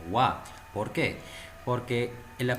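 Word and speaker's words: は: diciendo que es particular no estoy pronunciando como halo estoy promocionando como ua por qué porque en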